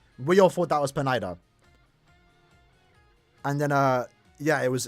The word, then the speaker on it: Pineda: Is it not Pineda? Is it Pineda? Listen, we've never heard his name. I've been saying Pineda like for a while now. I did notice that I'm probably saying it wrong. It's Pineda, right? Pineda?